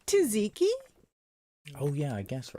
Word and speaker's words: tzatziki: How do you say tzatziki or do you say zatziki? I say tzatziki. Or do you say Tzatziki. Greek sauce? Tzatziki. You have to like kind of put the T and Z together, like tzatziki.